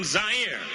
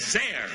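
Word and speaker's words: Zaire: goel coming to you live from zier some would pronounce it zir they're wrong it got big laughs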